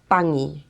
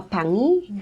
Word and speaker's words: pangi: So, this is called a pangi and it's spelled P A N G I.